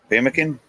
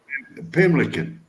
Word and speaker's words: pemmican: Pimlican. It's still wrong.